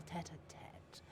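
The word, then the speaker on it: tête-à-tête: But now it is time for us to conclude our little tete-a-tete with a final game of chance. So that's how you pronounce that.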